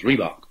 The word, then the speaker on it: Reebok: say and very understandable it's just the two syllables Reebok and no matter how fast